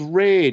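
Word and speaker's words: Reidh: on the 12th of august a horse called raid it's r-e-i-d-h for those of you uh searching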